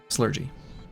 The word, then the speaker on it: Slurgi: blah, and out pops Slurgy. I have used it ever since. And even though I pronounce it slurgy, I accept any pronunciation.